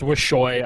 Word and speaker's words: Wuxio: It's pronounced Wishoy. I'm going to keep saying it every time we get on broadcast. I know it's not easy. Some pro gamers have really terrible names, at least the way to pronounce them, but it's Wishoy.